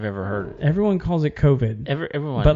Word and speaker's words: COVID: a podcast today and i heard a guy pronounce it kavid what and i kind of wanted to slap him well it's that's the dumbest thing i've ever heard everyone calls it covid but like he was you know it's sort